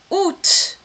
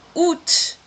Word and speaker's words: août: Août. Atenção a essa pronúncia. Août. Curiosamente, eu tenho que pronunciar esse T aqui, né?